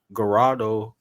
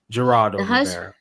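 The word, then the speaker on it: Geraldo: that she done was with gadoo Rivera by the way Gerardo Gerardo Gerardo I was about to say his name is definitely Gerardo I like hold on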